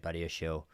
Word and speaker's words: Badiashile: I know everyone says I pronounce it wrong. Badiashile.